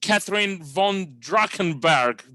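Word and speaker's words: Katherine von Drachenberg: I'll be talking to Catherine von Drachenberg. Did I pronounce it right?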